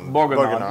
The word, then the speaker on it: bourguignon: French dish called and I'm gonna say the name wrong beef boys and um you have to say it like with a little bit of a you know like Inspector Clouseau bourguignon you know phonetically it